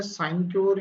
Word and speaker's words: sinecure: चलिए, तो देखो बेटा, इसकी स्पेलिंग होती है SINECURE, साइन क्योर।